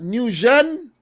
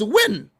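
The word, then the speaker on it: Nguyen: name and you like it's not new shin it's win all i do is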